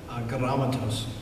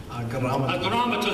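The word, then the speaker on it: ἀγράμματος: Agrammatos. Agrammatos. Say that with me. Agrammatos. Agrammatos.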